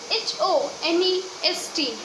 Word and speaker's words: honest: H-O-N-E-S-T. But here, H is silent.